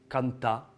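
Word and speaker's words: cantar: l'avez celui-là bon après le R à la fin du mot on oublie Kanta ou Amou et le N on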